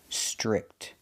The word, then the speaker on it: strict: The TR makes a ch chicken sound. Str, strict. Make the short I sound like this is. I, strict.